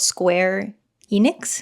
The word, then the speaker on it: Square Enix: So she works under this company called Square Enix. Is that how you say it? Yeah.